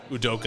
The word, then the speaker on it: Udoka: how do you say the coach's name again udoka udoka guy's a great coach he's revamped the